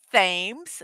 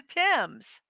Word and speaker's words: Thames: It's not Thames. It's the Thames. That's how you say it.